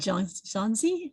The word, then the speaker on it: Xunzi: It reminds me a bit of the story about the gourd from, is it Xunzi? Is that how you pronounce it?